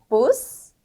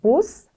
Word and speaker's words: Bus: Bus, halb. 네, Bus, halb. 발음이 다르죠? B하고 P였습니다.